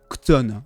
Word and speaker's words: Chthon: C'est incroyablement compliqué à dire. Alors, ça s'écrit Chthon, C-H-T-O-N, il me semble. mais ça se dit Kton, voilà.